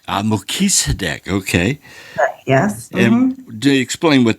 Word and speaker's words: Melchizedek: Order of Melchizedek. Melchizedek.